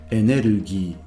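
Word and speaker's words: エネルギー: The word energy under normal circumstances is enerugi.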